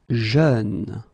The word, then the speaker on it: jeune: Jeune. Same thing, you don't say je, you say jeune, okay? So it goes like peur, œuvre, jeune, okay?